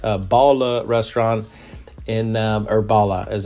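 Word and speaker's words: Balla: I really showcase Bala restaurant in um or Bala as it's pronounced in a wonderful light.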